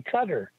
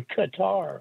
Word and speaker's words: Qatar: put into a bank in Cutter or Qatar whichever you want to pronounce it so that money as